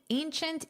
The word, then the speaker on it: ancient: Of course, ancient Notice this pronunciation. Ancient. Chint. This last part here is pronounced chint.